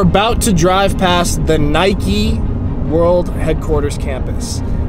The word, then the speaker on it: Nike: to drive past the Nike world headquarters campus say it properly Nike Nike all you Europeans say Mike it's not how you say Nike it's like five minutes